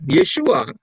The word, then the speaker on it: Yeshua: Ya, Yeshua, kita lihat Yod Shin Waw Ayin dari sebelah kanan sampai kiri. Ya, itu mempunyai makna lihat, mata yang melihat, tangan yang dihancurkan paku.